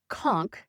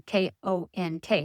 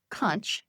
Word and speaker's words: conch: And it's pronounced conch, as in Konk, not conch, like lunch.